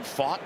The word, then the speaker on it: Pfaadt: Talked with Pfaadt yesterday, and he joked his name is spelled P-F-A-A-D-T. And then he went to Bellarmine. He said a lot of times he was fat from Bellarmine.